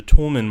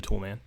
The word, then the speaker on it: Toulmin: if you just Googled the Tolman model if you spell it this way not like Tim the Tool Man the toolman model you get tons and